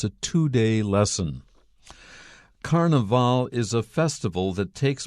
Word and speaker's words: carnaval: may hear carnival because in the language of brazil which is portuguese the last syllable has the accent in english if we use it to talk about an english carnival that's the first but when you are in latin america you will hear carnaval exactly the same meaning